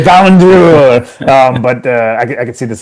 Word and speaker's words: Ballon d'Or: Ballon de Jour, which I is how I pronounce it because it drives everybody in my family crazy. The Ballon d'Or.